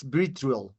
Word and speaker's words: Vitriol: I think that is the correct pronounce, Vitriol, correct?